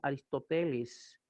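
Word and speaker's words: Ἀριστοτέλης: Leyendo griego tendrá que decir Aristóteles. El acento está sobre la epsilon, Aristóteles.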